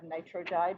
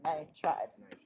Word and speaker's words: nitride: It's always just the first syllable. First syllable and then ide. Syllable. And bull. Then ide. So it would be, it's always like phosphide, not phosphoride. Oh, okay. Okay? Yeah. So similarly, like we didn't have nitrogide, we had nitride.